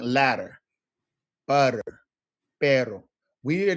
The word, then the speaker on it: pero: Pero. All right. It's the pronunciation pero pero. Pero right perero. You just want to kind of work that per. Now that's with a quick tap per.